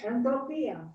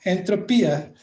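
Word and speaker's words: ἐντροπία: Entropia. Entropia, which means transformation, right?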